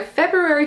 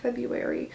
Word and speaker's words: February: thanks for watching my February favorites video febru February February does anyone actually say it like it's spelled February Fe February I I just February that sounds much better okay on that note